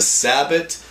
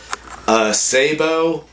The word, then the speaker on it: sabot: grain Sabo and again you're gonna have people that call it a sabot Sabo and there might be